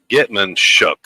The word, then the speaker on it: Getmanshchuk: They've got a new quarterback that is Nikita Getmanshuk. I don't know how you pronounce that. It's Getmanshchuk, but he actually moved into that area from California.